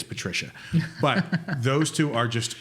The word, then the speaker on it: Patrizia: And his wife, it's spelled Patrizia, but I think it's Patricia.